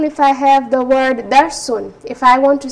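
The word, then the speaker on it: دَرْسٌ: So I'll say dar sun. So it will be pronounced with an N sound in the end.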